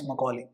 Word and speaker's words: Macaulay: Act was adopted by Stephen IPC Macaulay Thomas McCauley that is the correct pronunciation of his name by the Mercury Macaulay